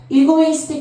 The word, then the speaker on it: egoistic: 이해가 발음할 때 이고 됐어요? egoistic pathway인데요.